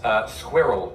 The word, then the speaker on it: squirrel: Yes, squirrel. Squirrel. One syllable, more or less. It is, and I don't understand that one either. So there are definitely two syllables.